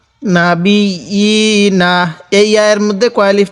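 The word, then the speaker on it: النَّبِيِّينَ: না বি, ইয়া খারাজের ই, নুন জবর না, না বি ই না। এই ইয়ার মধ্যে কয় আলিফ টান কে বলতে পারবেন? হ্যাঁ, ইয়ার মধ্যেও এক আলিফ টান। নাবি ই না, ওয়ায়াকতুলুনান নাবিয়িনা।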